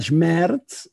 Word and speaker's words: Schmerz: Pero Die Silbe Schmerz, Schmerz, que sílaba, dolor, ¿no? Que sílaba más larga, ¿no? Es un monosílabo, Schmerz, ¿no? Para los que hablamos en catalán o castellano o francés, suena casi como, ¿no?